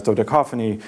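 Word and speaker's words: dodecaphony: in Soviet criticism as dodeca phony because of its fortuitous rhyme with cacophony the rhyme works in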